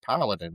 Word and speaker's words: paladin: And everybody was like, I think you put the wrong emphasis on the wrong syllable over there, but it's paladin. And I'm like, that can't be right. Paladin, like Aladdin. I mean, paladin, like Aladdin. And they're like, no, it's paladin.